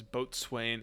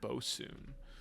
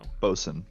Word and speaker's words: boatswain: and i've seen a a chat that says boatswain is pronounced bosun so bosun bosin so i apologize for i know right